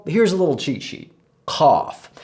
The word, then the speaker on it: ق: Cough. So this is like the English word cough, but touch the back of your tongue to the roof of your mouth as you say it.